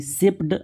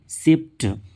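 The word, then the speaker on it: shaped: एच ए पीई से लेकिन उसमें हम लगा दिए डी तो ये सेप्ड ऐसा नहीं होकर ये हो जाएगा सेप्ट जैसे डब्लू आर ए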